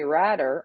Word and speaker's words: Radder: one ryan coke from radder rhymes with ladder this is the uh